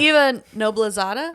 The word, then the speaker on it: Eva Noblezada: And Eva Noblezada, Yes, that's how you say it.